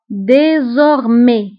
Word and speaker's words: désormais: من الان فصاعدا désormais فبالنسبه لdésormais ف e نكتبها باكسون ايغو وفي اخر الكلمه نكتب اس ولكن لا ننطقها désormais من الان فصاعدا dorénavant